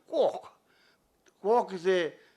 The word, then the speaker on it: quark: And the word quark, James Joyce said quark, but Murray Gell-Mann wanted to pronounce it quark.